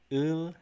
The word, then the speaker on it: 을: ul and ril.